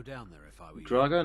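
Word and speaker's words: Draugr: there if I were Drago not dragger I'm saying it wrong all this time I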